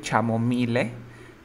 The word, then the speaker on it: chamomile: Chamomile. Muy bien, se escribe chamomile, pero se pronuncia chamomile or chamomile. Chamomile. Chamomile. Chamomile. Or chamomile. En británico dicen chamomile. Chamomile. Pero en americano es chamomile.